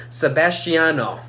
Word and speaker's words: Sebastiano: It's Sebastiano.